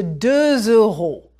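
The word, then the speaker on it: deux euros: Voilà une pièce de 2 euros. Prononcez 2 euros. That's E, a little like girl.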